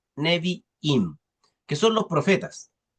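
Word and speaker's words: Nevi'im: torá después tenemos los neviim se escribe como suena con b y dos I neviim que son los profetas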